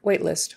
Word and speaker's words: waitlist: open waitlist open waitlist you probably would pronounce the T on the end open waitlist we have